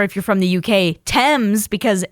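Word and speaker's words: Thames: Um or if you're from the UK, Tames because it's spelled the same way for the river Tames and but it's pronounced which is much more wellnown.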